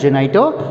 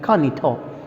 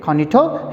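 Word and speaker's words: Juanito: the sense sir and ha konito usually we pronounce it as genito but it's actual pronunciation in spanish tongue is kanito okay kanito his servant it means these four characters and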